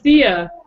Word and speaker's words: Thea: Rhymes with Tia. That starts the wait. Okay, actually, that's a good place to start. So, ask Thea.